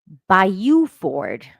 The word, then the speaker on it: Buford: Buford is pronounced Bayou-Ford.